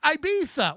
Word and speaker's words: Ibiza: It's actually pronounced Ibiza.